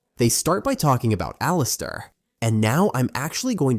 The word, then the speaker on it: Alistair: But the boy's name, the correct pronunciation is Alistair. Alistair, that's how you say his name.